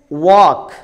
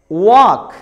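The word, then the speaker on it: walk: और ऐसे ही अगर लेटर एल से पहले ओ और यू आ जाए तो लेटर एल साइलेंट होता है.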